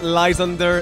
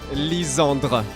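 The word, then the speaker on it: Lysandre: sorry but you're wrong it's not lysander it's not lisander it's lisandra i know it's hard for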